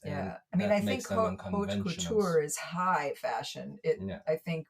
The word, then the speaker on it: haute couture: 4 is haute couture. Is this how you say it? Pretty much. Yeah. I mean, it's French, not English, but yeah, I think you got it.